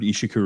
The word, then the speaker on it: Ishiku: um taking command a lot in the third Ishiku Rebellion. Um, the third uh, how do you spell that word?